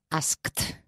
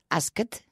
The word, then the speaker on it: asked: right now at home be careful because you can't pronounce an extra syllable asked asked it's an extra sound but there's no extra syllable you're gonna say ask it you know you cannot say ask it or ask it so it's ask huh one syllable huh ask yesterday I